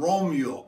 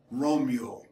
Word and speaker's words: Romjul: found it it's called romeo r om j UL because in the scandinavian languages the JS are pronounced like americans pronounced the wiro mule and it refers to